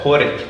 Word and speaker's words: Hårek: With me today for the first episode is very fittingly Hårek Stranheim. Have I pronounced that correctly? Oh, it was quite close. Oh, good. Perfect. Hårek would be perfect, but it was good enough.